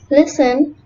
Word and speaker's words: listen: Letter T is almost silent in words with FTEN, STEN, and STLE, as in often, soften, listen, glisten, castle, and whistle.